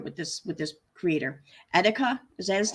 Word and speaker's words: Etika: hour I play One More Time okay I'm pronouncing it right correctly okay thank you all right that worried me all right so etika he was a content creator and he passed